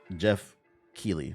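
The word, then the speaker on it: Geoff Keighley: that's true blame CH blame blame Jeff G Jeff key that's how you say his name what's his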